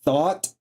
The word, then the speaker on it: Thoth: Yes, thought, like the thoughts in your head, is the way you pronounce the word thought. Thoth. He was an Egyptian god.